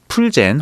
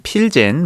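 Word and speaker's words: Plzeň: 스타일의 하나의 필스 1842년 체코의 플젠 혹은 필젠 마을에서 시작되었고 곧 전 세계의 모방품 양산했다 그죠 1842년에 체코 필젠 필젠이 두 일식 발음이에요 그서 필젠 시작됐고 뭐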